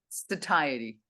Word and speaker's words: satiety: One of the things that we don't talk about a lot is that serotonin is also responsible for satiety, however you pronounce that word. Satiety.